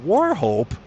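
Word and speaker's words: Wauchope: It's pronounced Warhope. Wait a minute. All right, how is it that that's pronounced Warhope? That has none of the letters in Warhope in it. That makes no sense. How is it that a U and a C turn into an R?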